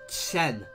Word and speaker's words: Quan: Sun Quan, or Sun Chen, or Chen, to get it how it's meant to be pronounced, I believe.